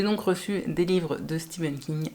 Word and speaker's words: Stephen: pourquoi alors que c'est écrit ainsi est-ce qu'on prononce Steven King avoue que c'est pas hyper logique et